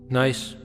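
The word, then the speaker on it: gneiss: Nice, pronounced nice, is a high-grade metamorphic rock with alternating light and dark bands.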